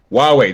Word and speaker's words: Huawei: the why though everyone was it pronounced why like they have like on this huawei there we go Huawei why ways on paper looks great